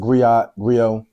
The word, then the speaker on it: griot: This whole thing of ours, you know, there's a term called the griot, right? Right. Some people pronounce it griot.